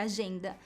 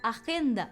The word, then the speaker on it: agenda: Agenda, que é agenda, também começa com A, mas a sílaba tônica é a segunda, agenda, e não agenda, por exemplo, né?